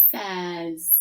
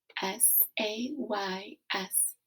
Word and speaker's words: says: has the z sound the a y is the tricky part they work together to say the f sound says so